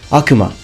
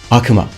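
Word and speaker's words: 悪魔: I hear a lot of people pronouncing it Akuma the real pronunciation in Japan is Akuma Akuma and it means devil moving on here's the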